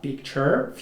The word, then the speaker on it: picture: هذيك تقرا picture future adventure capture. We have a lot of words that end with TURE and pronounce cher.